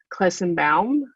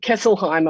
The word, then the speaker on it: Kesselheim: members his name is dr aaron clesenbaum that's how you pronounce it kesselheim i'm sorry he actually quit as